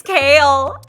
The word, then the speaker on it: Kale: How do you pronounce it? It's Kale.